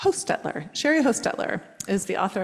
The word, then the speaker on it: Hostetler: how do you say your last name H Hostetler Sherry Hostetler is the author of this book